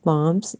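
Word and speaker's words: palms: पी ए एल एम एस पाम्स, L silent है यहाँ पे।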